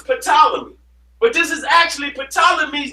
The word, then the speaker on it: Ptolemy: but this is actually ptolemy's name in greek ain't no that's why it's tyler the p is silent because ain't no peep see so you got